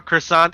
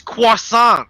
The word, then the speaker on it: croissant: Like, can I have a croissant? It's croissant.